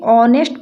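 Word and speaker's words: honest: हैं उसी प्रकार से इसे नेस्ट नहीं पढ़ेंगे ऑनेस्ट पढ़ेंगे क्या पढ़ेंगे ऑनेस्ट ऑनेस्ट पढ़ेंगे तो यहां पर आ का उच्चारण हो रहा है ना स्वर का इसलिए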